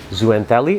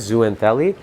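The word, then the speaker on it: zooxanthellae: color that zoo and i always pronounce this wrong zooentelli i think it is zoo anthelli just completely drops off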